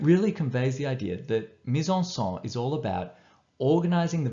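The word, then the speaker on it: mise-en-scène: Now, as you can see, it's a French word. Being French, you should use your correct French accent.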